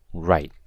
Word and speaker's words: write: and finally we have the word right with a silent W right means to write